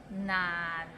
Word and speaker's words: 難: So it starts with N and ends with another N. 難, and it's in a low tone, so 難.